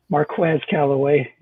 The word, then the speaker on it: Marquez Callaway: go with my boy marquez callaway marquez calloway is the right way to say it in the fifth round